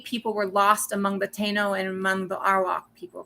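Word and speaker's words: Taíno: The Taino people are, sorry, and I did mispronounce that originally. Taino people are one of the peoples that colonization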